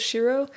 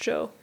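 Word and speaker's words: 城: to say castle is shirou but if you are putting the kanji at the end of a city name to describe that City's Castle it's pronounced Joe yeah like kazawa Joe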